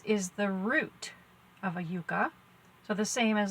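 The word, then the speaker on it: yuca: It says yucca on there, but I have been doing some research about it, and it's actually pronounced yucca.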